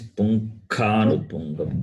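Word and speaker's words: पुङ्खानुपुङ्खम्: It is punkhanu punkham. Kha, not ga.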